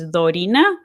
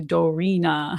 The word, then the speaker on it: Dorina: your syllables right like my name in spanish is dorina uh which is similar to a japanese person would say it but like here i have to americanize it to dorina right so people understand